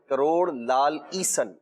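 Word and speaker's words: کروڑ لعل عیسن: کہا جاتا تھا پہلے، اس کو لالی سن بھی لوگ بولتے جی وہی صحیح تلفظ یہ ہے، کروڑ لال ایسن اس کا نام ہے، تو وہ لال ایسن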